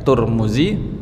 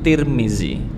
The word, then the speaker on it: Tirmidzi: Turmudzi, tarmizzi, Tirmidzi.